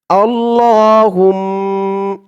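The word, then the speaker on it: اللهم: যেমন উচ্চারণ করব আপনারাও আমার সাথে বলে তেমন উচ্চারণ করবেন তেমন টান গুন্না করবেন আল্লাহুম্মা মিম জবর মা আল্লাহুম্মা হামজা নুন জের ইন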